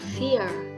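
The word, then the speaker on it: für: Lalu yang kedua ada U umlaut atau UE. Tetapi jika dalam bahasa Jerman itu dia dibacanya lebih ke I. Misalnya Fur ini dibacanya fear.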